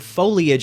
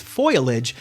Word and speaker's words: foliage: when days get shorter people confidently pronounce the word foliage as foilage and children are remanded